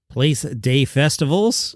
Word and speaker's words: Place des Festivals: You can see it for free at the Place des Festivals, which is how it's pronounced in French.